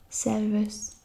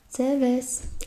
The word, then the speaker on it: Servus: I'm not really sure if they pronounce the R in this, but they usually like omit R, just like the British English does. So it's kind of like Servus. It's basically saying hello.